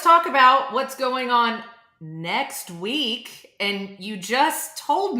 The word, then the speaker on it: NXT: Let's talk about what's going on next week. And you just told me that we've all been saying it wrong, Jared. It is not the NXT conference. It's the next conference.